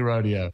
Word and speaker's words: rodeo: We can't decide if it's pronounced rodeo or rodeo. Do you have any thoughts on that? When it comes to country music, it's definitely rodeo. Okay, good. It's Rodeo Drive in LA.